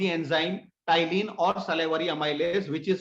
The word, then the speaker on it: ptyalin: P is silent. P is sorry. silent over there. Ptyalin, salivary amylase, converts starch into maltose.